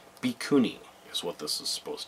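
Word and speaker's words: Bhikkhuni: But you can actually tell how it's supposed to be pronounced because there's Japanese underneath it. There's kana anyway, which is has set syllables. So it's Bikuni is what this is supposed to be.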